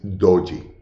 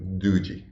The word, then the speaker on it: doji: sure which one Steve Nielsen says doji but I like do G I don't know why I like it more that's why I keep saying do G so do G doji